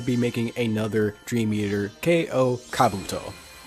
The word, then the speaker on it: K.O. Kabuto: But to start off with, we're going to be making another Dream Eater, K.O. Kabuto. Yeah, that's the name, and actually how you pronounce it.